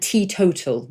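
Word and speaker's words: teetotal: Uh and tea total, which is spelled not like tea the drink, by the way. It's t e. Um, t total which I think comes from golf probably.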